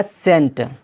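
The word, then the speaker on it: scent: example के तौर पर यहां पर है एस सी ई एन टी जिसका माना होता है अतर खुशबू सेंट यहां पर सी यानी के एस के बाद आया है सी और सी के फौरन बाद देखिए ई है यहां पर सी क्या हो जाएगा साइलेंट हो जाएगा हो जाएगा सेंट इसी तरह सीन में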